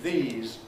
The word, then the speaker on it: these: And Spanish learners, for example, do need to worry about the difference between these, plural, and this, singular, because it's typical of a bad Spanish pronunciation to say dis for both singular and plural, and it sounds bad in English.